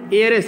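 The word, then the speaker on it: heiress: हिज mother, ठीक है, हिज mother was an actress, ठीक है, उनकी माँ एक वाज एन एयरेस है, इसमें यह साइलेंट है।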